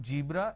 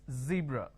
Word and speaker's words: zebra: jar it's a mispronunciation it's not jibra it's zebra it's not john it is zone it's not g it is zeal it's a z sound another mistake that people